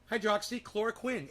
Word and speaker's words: hydroxychloroquine: You know, think of the guy from Dexter. Quinn. Chlorine. Hydroxy. Hydroxychloroquine.